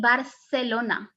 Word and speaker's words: Barcelona: and the z okay in latin america these two letters are pronounced as s as you can see as you can hear me um here you have an example i i say barcelona almost like an s but in spain you will hear more